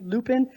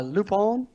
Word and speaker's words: Lupin: called it's spelled l-u-p-i-n lupin i believe it said french-wise uh lupone which is it's very